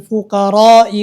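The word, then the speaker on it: الفقراء: Cara membacanya adalah innamas shadaqatu lil fuqara'i wal masakin. Jadi fuqara itu dibaca 6 harakat. Karena itu berkenaan dengan hukum mad wajib muttasil. Jadi dibacanya harus dengan 6 harakat.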